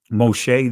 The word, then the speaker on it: Moshe: and in the back you'll see moshe this is the israeli pronunciation of it but this